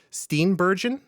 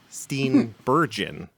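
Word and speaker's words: Steenburgen: We have Mary Steinberg. I I have pronounced her name wrong forever. I had to look it up. Steen Burgon. Crazy.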